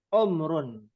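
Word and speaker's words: عمر: Ya, karena orang Indonesia nggak ada huruf ain, maka dibacanya menggunakan huruf hamzah, umur. Nah, aslinya adalah umrun.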